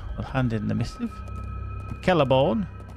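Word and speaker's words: Celeborn: Kelleborn. Spelt with a C. Pronounced as a K. Like, carrot.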